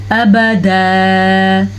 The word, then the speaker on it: ابدا: ابدا. وقف کی وجہ سے 2 زبر 1 زبر اور الف کے ساتھ پڑھا جائے گا.